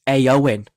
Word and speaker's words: Éowyn: at me if I say it wrong it's AO in see there you go perfect so going we're